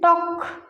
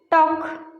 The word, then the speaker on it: talk: Talk. Talk. L is silent.